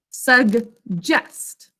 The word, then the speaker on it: suggest: suggest a four sounds that's another g j saying it's second sound sug jest usually when we have a double consonant one is silent but this is kind of like accept like i accept the invitation where one is saying the first sound the other saying the second sound pick up your pencil